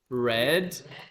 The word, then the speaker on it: read: yeah Double T written what about read red and it's spelled the same see read red red